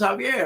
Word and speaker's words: Javier: say, hey, you know, in Spanish, the J is pronounced like an H. And then they're like, oh, okay, that makes sense. Your name is Javier.